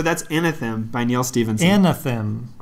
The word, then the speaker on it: Anathem: Anathem, with an extra A. I mean, I'm pretty sure that's how you say it. I'm not sure. Okay. Yeah, well, it's definitely not Anthem. No. Because that's missing an A.